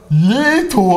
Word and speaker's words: Leto: heißt 100%zentig so let ich sag immer falsch ich sag let gesagt dann hat irgendein Typ in unter dem Comm Video geschrieben also Julius der Jared der wird aber Leto ausgesprochen das Hall hallo wio